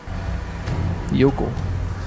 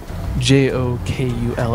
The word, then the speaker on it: Jokull: A lot of people mispronounce it because it does start with J-O-K-U-L-L. Yeah. A lot of people think it's Jokull. It's not. It's actually an Icelandic word that means glacier.